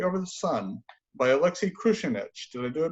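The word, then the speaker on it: Kruchenykh: She's the original English language translator of the first futurist opera Victory Over the Sun by Alexei Krushenich. Did I do it right? Krushenich, but we're taking any 3 syllables with a K.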